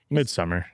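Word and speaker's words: Midsommar: Uh Midsomar. Yeah, that midsummer. Mid. Isn't it pronounced differently though? Midsummer. Am I wrong? It's Midsummer.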